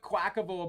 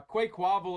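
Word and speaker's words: Quaquaval: pronounce this card uh I've seen a few people call it quackable but I'm with you uh Quake wobble is how I pronounce that card I think that's the right way could also be because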